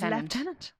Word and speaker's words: lieutenant: you know that the British pronounce the word Lieutenant as leftenant weirdos and colonal as